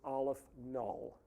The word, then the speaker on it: aleph-null: The subscript is 0, and that is pronounced Aleph null, which is a symbol for a certain level of infinity.